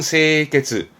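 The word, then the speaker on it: 清潔: 발음은 세이케츠.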